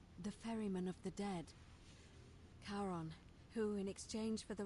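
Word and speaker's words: Charon: a coin oh you described it only your pronunciation is a little off the name you heard wasn't Karen it was c h a r o n as in Caron the ferryman of the Dead karon who in exchange for the right coin helps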